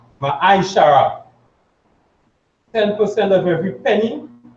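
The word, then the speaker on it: מעשר: 10 means means tense in hebrew and is pronounced ma shara ten percent of every penny of every increase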